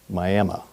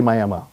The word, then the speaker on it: Miami: Uh, but in Oklahoma, I think just because it's Oklahoma, they say Miami. So, it's Miami, Oklahoma, Miami University, Miami tribe. Um, but they refer to themselves as Miami.